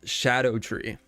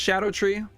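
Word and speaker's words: Scadutree: back too true apparently it is pronounced Shadow tree even though it's spelled s c a du I don't know if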